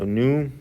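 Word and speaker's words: nu: viscosity which is the symbol for which is new so new this is how it's pronounced and this is mu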